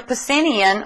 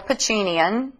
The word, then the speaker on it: Pacinian: touch and pressure receptors your pacinian or pacinian both pronunciations are okay uh are pressure receptors